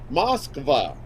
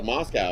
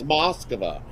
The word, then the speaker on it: Moskva: prosvetov um from uh moskva uh i i i didn't know that i was we were always called to moscow i guess uh we've been pronouncing it wrong it's over it's moskva so we got uh